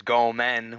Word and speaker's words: gomen: And he's saying ramen, and he was saying sorry, and he goes gomen, which is gomen no sai. Uh-huh. But It rhymes with ramen, yeah.